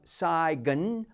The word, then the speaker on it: sign: And although we write our signature, pronouncing the word with a hard G, we don't sign a check.